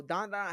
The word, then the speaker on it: Dan Da Dan: So dandadan had hype, and when you have that much hype, it should be good off rip, right?